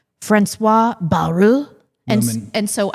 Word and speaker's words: Bayrou: So I didn't want to, I've been mispronouncing things. And so I was like, Francois Bayrou.